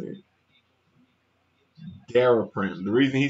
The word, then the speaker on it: Daraprim: Daraprim.